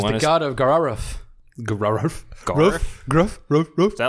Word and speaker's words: Grrrauauff: god of Gararuf." Gruff. Garf? Gruff. Is that like Garfield's like? It is spelled. It is spelled GRRRAUAUFF. Gararuf. Gararuf. Exactly.